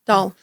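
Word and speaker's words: Dahl: D A HL, right? D Doll. Yeah. Doll. I think it's like a western versus Midwestern pronunciation, you know, like bag and bag.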